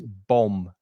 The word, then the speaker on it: bomb: The second B is silent, so you don't hear the second B. It's bomb.